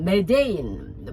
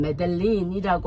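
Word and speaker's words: Medellín: 그래서 그곳에서도 시내 캐피털 시티는 보고타인데, 보고타는 굉장히 좀 막 이렇게 한국의 서울같이 그렇고, 그 중간에 메데인, 뭐 스펠링으로 하면 메델린이라고 하는 도시가 있고, 그 다음에 해안선 위로 북쪽에 카타지나라는 굉장히 유명한 해양 도시가 있어요.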